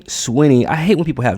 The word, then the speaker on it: Sweeney: So, so, so this is what Sydney Swa say her name right. Sydney Swinny.